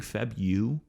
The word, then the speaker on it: February: trying to tell me to say february not february i'm saying feb u even though it's not how it looks phonetically i'm sorry that's how it phonetically sounds it's not how it looks on paper but everybody says february so i'm not going to throw in that first r february it's a silent r yeah it is as